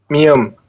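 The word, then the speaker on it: 미음: yang kotak mium penjelasannya mium itu sama jika di awal atau di akhir itu disebut Oke Betul ya namanyaalah teman-eman kan sesuai namanya nih mm jadi di posisinya maka dia buinya adalah m seperti itu ya ingat-ingat saja teman-teman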